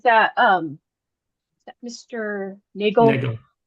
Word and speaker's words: Nagel: Um, what is your full name and please spell it for the record? Sure. Uh, my name is Nagel.